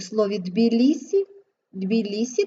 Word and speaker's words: Тбілісі: не вимовляємо у слові Тбілісі дві лісі ти вимовляємо м'яко Метелиця твердо Отже всі